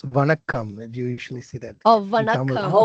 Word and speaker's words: Vanakam: Is it Zankam? It's Vanakam.